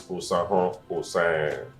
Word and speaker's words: Osahon Oserenren: My name is Osahon Oserenren. It's not The R is silent.